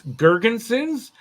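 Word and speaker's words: Girgensons: It's Gergensons and Yost. That's how you pronounce it.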